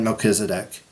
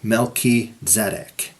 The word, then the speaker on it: Melchizedek: Okay, I know it's usually said Melchizedek. I'm not trying to be pedantic here, but I pronounce it this way so you can hear the Hebrew. Melchizedek.